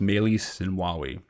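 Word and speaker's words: Meles Zenawi: this system was um melissa nawawi or pronounced melissa and wawi and he was uh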